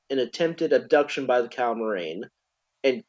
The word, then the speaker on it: Calamarain: Um, this is interrupted by the appearance of the Cal Calma, Calmarine. Yeah, the Cal- Calmarine who are old. Sorry, go ahead. I pronounce it the calamarain, I think is how they say it.